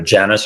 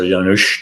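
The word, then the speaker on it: Janus: God of doors is either Janice or yanush depending on how you want to pronounce it oh really and he's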